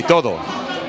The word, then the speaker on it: todo: No, in New York they say todo. Todo. Todo, like to-do list. Todo. Do it all, yes. Todo. I lived in New York. I never said todo.